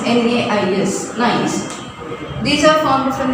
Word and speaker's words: gneiss: Then nice. This is actually GNEIS, but the pronunciation is NAIS.